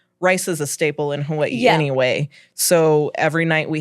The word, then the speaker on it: Hawaii: If W is in the middle of a word, it's a V. So Hawaii. Hawaii.